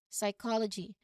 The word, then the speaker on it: psychology: start of a word, that P is almost certainly silent. Okay, this pattern is often a clue to the words Greek origin and will help you pronounce these specific words correctly.